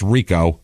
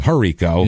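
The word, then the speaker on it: Hrico: heard it pronounced it's Rico uh it's h r i c KO so I wanted to call him hero like Kent herbeck spelled like that but it's it's r with the silent h guess so a guy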